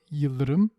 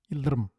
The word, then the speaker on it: yıldırım: to pronounce the word yıldırım as yıldırım. Yıldırım. Now slower. Yıldırım, yıldırım, yıldırım, yıldırım, yıldırım. Did it work? No? If it didn't work, make sure to pronounce the dark L.